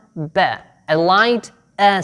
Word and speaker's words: ب: are quite the same the name is ba and the sound is right you can pronounce the letter b simply by pressing your lips now blow some air step three let the lips apart ba ba don't forget that you